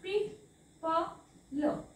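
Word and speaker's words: people: वाचायचंय सो काय वाचाल पी प ल पीपल हा ओ वाचायचा नाही पी पल ओके नेक्स्ट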